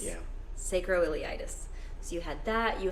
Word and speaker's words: sacroiliitis: pronounce it right Hillary taught me how to pronounce it sacroiliitis yeah sacroiliitis so you had that you had spine pain